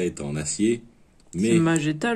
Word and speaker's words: Magetta: Magetta, logiquement, vu qu'il n'y a pas un U.